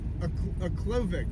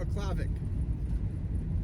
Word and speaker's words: Aklavik: So instead I decided I was gonna go to a Klavik.